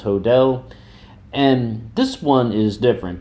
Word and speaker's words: Hodel: about a suspect, George Hill, and his name is spelled H O D E L. It when I was first reading that, I thought it'd be pronounced Hodel, but yeah, it's pronounced Hodell.